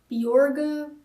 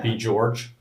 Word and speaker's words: Bjorge: like Norwegian is it it's supposed to be pronounced um borga but it's too hard for americ to say beor I'm thinking B George oh yeah that I've